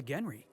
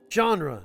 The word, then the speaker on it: genre: It's a rule of the Genry.